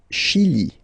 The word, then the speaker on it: Chili: Le Chili, le Chili. Okay, remember, C-H, sh, okay, Chili, le Chili.